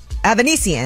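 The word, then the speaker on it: Avanesyan: Avanesian. That's how you say it.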